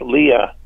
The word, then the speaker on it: Lea: And General Homer Lee, the last name was spelled Lea, so it would be pronounced Leah.